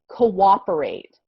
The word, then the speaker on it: cooperate: word to say because when we have two o's together like this in english a lot of times it has like a w sound so it's a little